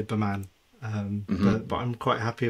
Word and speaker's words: BEMAN: Is it B Man or B Men? Like, Oh, so it actually stands for something, and I say Baman.